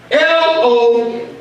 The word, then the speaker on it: Logos: In the Hebrew, Word is spelled L-O-G-O-S.